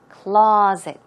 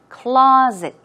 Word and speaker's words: closet: is pronounced it's clait closet okay stress goes on the first syllable and it's more of a z z z sound closet closet and what about monster